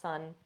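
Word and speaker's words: cun: we call this a sun in traditional Chinese medicine. It's actually spelled C-U-N, but pronounced sun.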